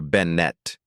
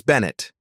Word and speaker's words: Bennett: Benett. He deliberately mispronounces her name despite her previous correction. It's Bennett, she states, and I'm simply requesting appropriate procedure.